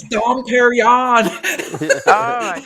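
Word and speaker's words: Dom Pérignon: The lady had fine champagne, and she says, "This is Dom Perignon." Oh my god! No, it's Dom Perignon.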